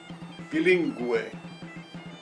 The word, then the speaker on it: bilingüe: Can you see the two dots above the letter U? That is called diéresis. Diéresis. It separates the two letters so you can pronounce them separate. Bilingüe, bilingüe, pingüino, pingüino.